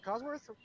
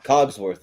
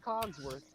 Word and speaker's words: Cogsworth: But yeah, Lumiere and Cosworth, or Cosworth, is that how you say his name? Cogsworth, yeah. Cogsworth.